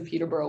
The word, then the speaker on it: Peterborough: in Peterborough, Ontario, because I know there's a Peterborough over there as well. Peterborough. That's how it's pronounced here.